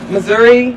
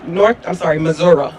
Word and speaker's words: Missouri: Though they are electives, At least 6 states, Florida, Indiana, Missouri, Missouri.